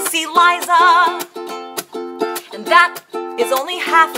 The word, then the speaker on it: Liza: It's Liza with a Z, not Lisa with an S, cause Lisa with an S goes snuts. Z instead of S, Lee instead of Lie, simple as can be, see Liza.